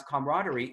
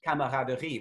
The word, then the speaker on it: camaraderie: spelling of this word which we pronounce camaraderie is the lower one the french spelling which in french is pronounced differently camaraderie which in which you hear all the vowels um but this alternative